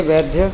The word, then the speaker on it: वैद्य: उसे वैद्य दुख का कारण बतलाए। दुख वैद्य नहीं, वैद्य, द में य है।